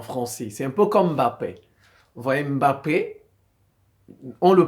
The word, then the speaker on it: Mbappé: langues mais vous voyez les Français par exemple ils disent pas Mbappé ils disent m Mbappé ils prononce le M voyz les Européens ils